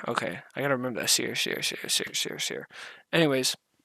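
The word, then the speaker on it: Ausar: Sear Thompson. Asir? Okay, I gotta remember that. Asir.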